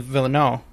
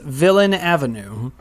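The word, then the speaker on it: Villeneuve: because i love denis villano however you say his name i just want to say it's so frenchy and then i mispronounce it um i believe it's villain avenue oh yeah that's right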